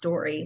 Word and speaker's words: Doree: But yeah, it's Doree is how you spell my name's Doree. And it is pronounced Dory, like yes, like finding Nemo, finding Dory.